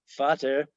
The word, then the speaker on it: Vater: Pater, Peter in Greek, Latin, and Sanskrit, but father in English, Vater in German, the V being pronounced like an F.